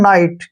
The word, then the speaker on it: night: जैसे second word है NIGHT, इस वर्ड में भी क्या है, लास्ट में GHT आया है, तो हमने G और H दोनों को ही प्रोनाउंस नहीं करना है, इसको पढ़ेंगे हम नाइट।